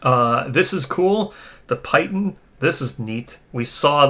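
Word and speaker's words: piton: this is cool the pitan this is neat we saw the terrain here now I think I think that's pronounced pitton pitton yeah I know what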